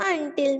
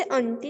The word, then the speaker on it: until: Ma'am हाँ जी, ma'am until में ma'am अनसाइलेंट नहीं होती। नो, हम इसे अंटी नहीं कहते हैं। until, until n साइलेंट नहीं है, बोला जाता है, ठीक है।